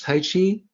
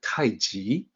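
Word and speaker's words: 太極: It's written as Tai Chi. People pronounce it as Tai Chi, but the romanization system of old always had intended for it to sound like Taiji, which is what you see here.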